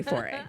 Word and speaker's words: foray: - That's my word; she didn't say foray. Although, she's French, so she may have. - It's pronounced foray.